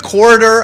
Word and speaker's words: corridor: corridor corridor do i am i adding an extra syllable quarter no you're just uh i'm emphasizing the middle syllable yeah and you're in the last syllable you're kind of uh get given up a little bit on synonyms for corridor areas